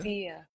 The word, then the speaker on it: Sia: Saya. What's that again? I thought it was pronounced Saya. I believe it's Sia. Sia. Yeah. So yeah, I believe it's Sia. That's what everyone calls her on TV.